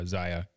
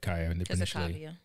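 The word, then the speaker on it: Zaya: that when kai was i'm pronouncing the name right now i don't know why if i said kaya oh yeah my bad so ziya when she was three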